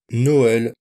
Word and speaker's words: Noël: Le E, autre voyelle avec un tréma, comme dans le mot canoë par exemple, dans le nom Raphaël, ou encore dans le nom Noël. Là, le tréma permet de bien prononcer séparément les deux voyelles.